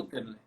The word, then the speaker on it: Murterle: Eu não conheci o amigo, não é Mutterli. É Mutterli ou é Mutterli, a Mutterle, pronúncia? Mutterli. Mutterle.